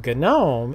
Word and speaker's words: GNOME: gnome statue have in your garden that is pronounced gnome but ghen ohm is software you install in Linux let's get